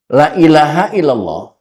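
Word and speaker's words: لا إله إلا الله: Karena kalau Bapak bacanya salah, la ilaha illallah itu harus dibaca dengan mad jaiz munfasil. La ilaha illa Allah.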